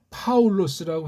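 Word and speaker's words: Παῦλος: 바울은 예이 바 비읍자가 아니고 피읍자예요. 이건 소리 한글 소리니까 소리가 이게 무책임하게 엉망징창으로 세상주의에 빠진 거예요. 제국주의 식민사관이에요. 제국주의 식민 종교관이란 말이에요. 교회관 무섭습니다. 못 읽으면 모르지만 읽을 수 있잖아요. 발음을 못 하지면 우린 하잖아요. 파울로스라고 해야죠. 뭐 줄이면 파울까지라고 뭐 봐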